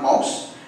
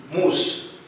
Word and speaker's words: mousse: It's not mouse. It is mousse.